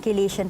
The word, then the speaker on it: chelation: Sabi ko nga po, meron tayong tinatawag ng chelation therapy.